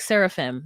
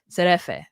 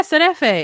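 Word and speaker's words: şerefe: And he's like, seraphim. That's not how you say it, but it's like S with a little thing at the bottom, the accent at the bottom of the S, and Erefe. Serefe, maybe.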